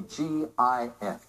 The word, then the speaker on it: GIF: You said, what is a GIF? Pronounced GIF.